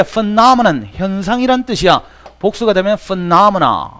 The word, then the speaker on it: phenomenon: 자, phenomenon 이거 피노메논이라고 읽으면 안 돼. phenomenon 현상이란 뜻이야.